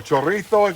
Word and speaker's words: chorizo: gonna add back in the chorizo or chorito here in Spain chorizo and no shrimp